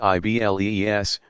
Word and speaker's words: Iblis: The principal diabolical figure is called Iblis, pronounced Iblees, from the Greek diabolos.